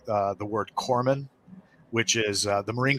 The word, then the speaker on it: corpsman: as corman um but they kept mispronouncing that because core is obviously not spelled k uh excuse me c-o-r they kept calling him corpsman you know but i